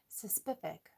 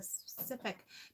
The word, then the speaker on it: specific: Suspific. Suspific. Nope, that one's not cutting it. Suspific. It's a suspific. It's a specific.